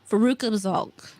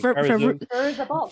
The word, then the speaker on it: Fairuza Balk: her first Faruka Balk. I can't say it right. Whatever. Someone put in this thing. Fairuza Balk.